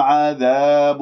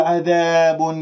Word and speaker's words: عذاب: ولهم عذاب، لا تقل عذاب عذاب هكذا بابتسامة في الشفاه وتسحب اللسان إلى الخلف وتجعلهم منبسط، اللسان مرتاح، لا لا، بس مجرد شوفوا اللسان كيف نايم مرتاح، لا تعملوا أي شيء.